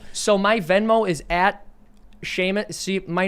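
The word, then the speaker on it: Seamus: right so so so my venmo is at sheamus see my name is horribly difficult to pronounce and spell so it's s at s-e-a-m-u-s-c-o-u-g-h-l-i-n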